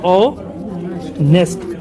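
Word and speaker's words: honest: लेकिन ऐसा बिल्कुल नहीं है क्योंकि इसको हम लोग लिखते हैं ऐसे ओ नेस्ट मैन तो यहां पे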